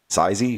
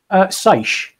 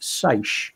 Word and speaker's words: seiche: Sizey? I'm just trying to find out how it's pronounced. Yeah. For real. That's going to irritate me for a while. Seiche. It's pronounced seiche.